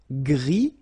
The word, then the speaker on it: gris: Gris, don't pronounce the S, but then for the feminine form, grise.